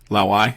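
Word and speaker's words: 老外: Pardon my pronunciation here; it's going to be horrendous. But that's Lao right. Wei. Lao Wei, yeah.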